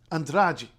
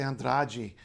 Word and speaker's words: Andrade: just gets clipped short but in Brazil that e becomes e it's still quite short as a general rule and before it D becomes J and T becomes CH so for instance you know uh noi KN instead of no which would be uh in Portugal um so andrai you'll hear people say andrai that's fine you know but andrai